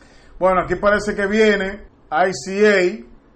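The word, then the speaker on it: Isia: Bueno, aquí parece que viene ICA. Es así que se pronuncia, I-S-I-A.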